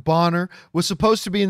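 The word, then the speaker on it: Ralph Bonner: who writes i suspect ralph boner bonner i guess was properly pronounced bonner was supposed to be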